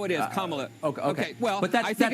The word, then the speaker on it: Kamala: Her name is pronounced comma, like the punctuation mark la, Kamala. Okay? Seriously, I've heard every sort of bastardization. So what? That's how it is, Kamala.